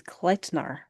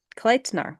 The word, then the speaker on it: Kleitnar: The pronunciation guide says Kleitnar. Kletnar. Kleitnar, like kite with an L.